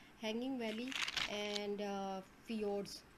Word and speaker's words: fjord: U-shaped valley है, hanging valley and fjords. So it is pronounced as fjord.